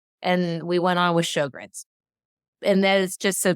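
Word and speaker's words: Sjögren's: he knew how to say it correctly, like Sjogren's. And I'm like, Sjogren's.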